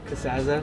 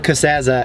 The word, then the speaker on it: Casazza: Casazza's charging me 30 for a small, so How do you actually Are you pronounce ready? your last name? Casazza. Casazza, and then That's sort of- but you call it Casazza, Sure, yes.